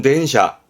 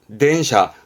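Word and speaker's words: 電車: 그렇죠 많이 봤던 전차주 발음은 덴샤 덴샤 음독은 샤가 됩니다 덴샤 뭘까요 그렇죠 자동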